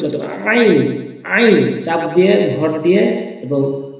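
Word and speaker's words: عين: করা রয়েছে কণ্ঠনালীর মধ্যে মধ্যখানে এখান থেকে এভাবে উচ্চারণ করতে হবে আইন আইন চাপ দিয়ে ভর দিয়ে এবং কন্ঠনারীর মধ্যভাগ হতে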